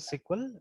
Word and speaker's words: SQL: तो खैर, तो स्टिल प्रोनाउंस एज सिक्वल।